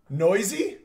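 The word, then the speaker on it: Neuse: right you're right Matthew noisy is it really Sheldon Sheldon nooses pronounced noisy oh my god I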